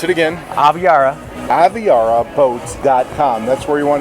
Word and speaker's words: Aviara: Pronounce it again. Aviara.